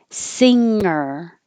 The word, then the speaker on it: singer: the mouth sing singer the tongue in the back slides backwards on the top of the mouth so that it doesn't come down and release the air at once and make a ga so singer you slide it back don't let it come down and make a singer but 37 you do